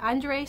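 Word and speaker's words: Andrzej: the last wish by andrei sapowsky um i've looked it up and even that name is definitely is pronounced andre i wouldn't guess that from the spelling but i looked it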